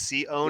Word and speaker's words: Sione: Sione. Yeah. No, you got the emphasis on the O. It's Sione. No, he got that. He got that. Taki. Yeah. Just one little syllable off there.